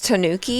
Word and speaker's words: Tanooki: you say the name of the record it's Tanooki yeah the Tanuki outfit sorry like I never